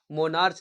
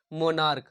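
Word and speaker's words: monarch: तो जो CH है इसका उच्चारण चा में ना, इसका उच्चारण का में हो रहा है, जैसे मोनार्क, मोनार्च नहीं मोनार्क, तो इसमें हम केवल क्या ऐड करेंगे, यस ऐड करेंगे, तो मोनार्क्स, ONARCH, मोनार्स।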